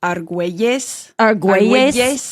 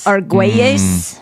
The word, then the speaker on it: Argüelles: Like ARGUELLES is Argüelles. Argüelles.